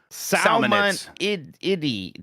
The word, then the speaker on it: salmonid: It's pronounced salmonidy. Thanks for your thoughtful consideration of this matter. Yeah, during the the the the Nintendo Direct, they called them salmonids a bunch.